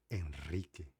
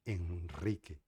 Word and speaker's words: Henrique: Então você vai falar Henrique, forte, vibrante. Henrique.